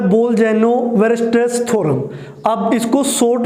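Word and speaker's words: Bolzano-Weierstrass: उसके बाद जो नेक्स्ट हमारा टॉपिक है वो है बोल-जेनो-वेरस्ट्रेस थ्योरम। अब इसको शॉर्ट में आप BW थ्योरम भी बोल सकते हैं भी, क्योंकि कई स्टूडेंट्स को इसकी प्रोनाउंसिएशन में काफ़ी दिक्कत रहती है, यानी कि बोल-जेनो-वेरस्ट्रेस थ्योरम, ठीक है ना।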